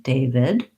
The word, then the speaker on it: David: Sounds just like day and then vid with a relaxed I, first syllable stress. So I would write it that way, David.